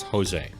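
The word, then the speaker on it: José: like aggressive it's annoying do people pronounce jose with a j no they do not it's jose but this person said jose and so i'm assuming they said their own name right so for them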